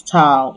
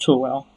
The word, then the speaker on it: towel: And when you're talking about what you tie around your waist when you're done in the bathroom, please, it is towel. It is not towel.